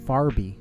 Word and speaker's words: forby: Forby, Forby. Preposition or an adverb, or it's pronounced farby.